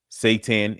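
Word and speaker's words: seitan: Satan is good. That is spelled s e i t a n.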